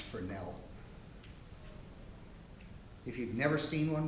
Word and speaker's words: Fresnel: This is a French guy, so I think it's actually pronounced Fresnel.